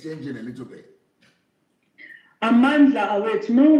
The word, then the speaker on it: Amandla: Some people say Amanza, some people say Amandla, some people say Amanz. It's like a little bit different towards the end. No, many different languages, but Kimatla, Amandla is Amandla.